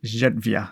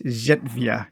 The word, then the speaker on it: Zerywia: I believe it's Zerywia because I think one of my favorite beers is Żywiec, and so I'm kind of pronouncing it the same way that I would pronounce Żywiec, and it's Zerywia, I believe.